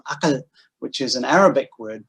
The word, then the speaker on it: akal: And one of the things he notes that a final L is often pronounced as an I. It's vocalized in Kedah pronunciation and in the pronunciation of Bahasa Tanjung. So you have words like agai. And actually this one's interesting because it's not originally wasn't even Malay. It was from akal, which is an Arabic